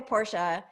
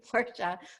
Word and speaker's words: Porsche: want to be careful porsche right people say i have a porsche it's pronounced porsche i know i have a pink barbie corvette too but i have a full full lady-sized porsche but people pronounce it porsche right so yeah and